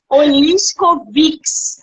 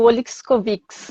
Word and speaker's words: Oliskovics: Oliskovs. Mas todo mundo, a tendência é fazer o Oliskovics, né? Mas eu costumo dizer Oliskov, já está saindo natural.